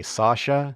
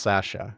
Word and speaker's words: Sasha: I'll get comments about it otherwise I know Americans say Sasha but in England and here in Canada it's pronounced Sasha one of those many Oddities of the English